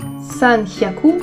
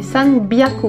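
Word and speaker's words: 三百: Par exemple, si je prends le mot hyaku, qui veut dire 100, 200 ni hyaku, par contre 300, ça ne se dit pas san hyaku, mais san byaku.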